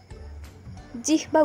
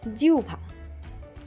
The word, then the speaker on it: জিহ্বা: গভীর গউঘর দেখা গেল জিহবা উচ্চারণ করে থাকেন উচ্চারণ হবে জিউভা গরম চাখে তার জিউভা